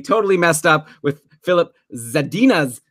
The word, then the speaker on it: Zadina: messed up with Philip Zadina's name. It's Zadina. I should know this. That's my wife's name, like minus the za.